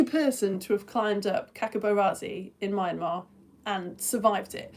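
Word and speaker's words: Hkakabo Razi: Uh, I'm going to call it Kakabo Razi. I'm assuming that the H is silent, but yeah, a Japanese mountain climber called Tekashi Ozaki is the only person to have climbed up Kakabarazzi in Myanmar and survived it.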